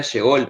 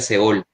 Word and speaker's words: Sheol: ajá, Yo pensaba que era Sheol, pero un día le pregunté directamente a mi profesora de hebreo y me dijo que sí. ellos pronuncian Seol. Ah, bueno, buen ¿Ok? dato. Entonces es como para compartirlo ahí, porque yo también antes decía Sheol o Seol, no estaba seguro antes cómo se pronunciaba, pero la pronunciación correcta es Seol.